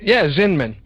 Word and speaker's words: Zinman: Zinman. Mm-hmm. Zinman.